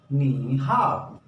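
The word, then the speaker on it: 你好: knee N I knee H ए ओ हाव नी हाव नी हाव अगर complete दोनों words को हम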